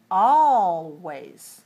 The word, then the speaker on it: always: the word does the is the l silent in this word always no you must put your tongue on the gum ridge for the all oh always it is not silent you must pronounce it always always pronounce the l